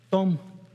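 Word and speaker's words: תם: se traduce como integridad es una palabra corta Tom Tom se diría en español y se pronuncia así y tiene el mismo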